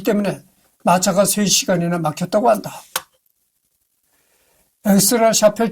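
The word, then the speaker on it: Aix-la-Chapelle: 엑스라 샤펠 조약, 아엔의 프랑스 발음, 프랑스어 발음.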